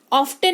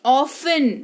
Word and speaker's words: often: मुलायम या कोमल, लिस्टन नहीं लिसन सुनना, ऑफ्टन नहीं ऑफन यानी कि प्राय।